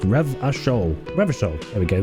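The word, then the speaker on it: Revachol: go into the world revitol is pronounced ravashol rebus table here we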